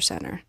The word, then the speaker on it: center: Cancer Center versus cancer center and and do you notice I actually did not pronounce the T Center you could say